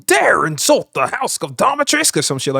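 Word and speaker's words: Dimitrescu: it a stack though you still pronounce that you're wrong it's lady Dhat trisk cuz that's what she says in the game you dare insult the house of diatris or some [ __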